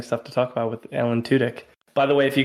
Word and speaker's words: Tudyk: to pronounce it and if your last name is pronounced too dick like let's get right to the point this is how you say it I have immaturely giggled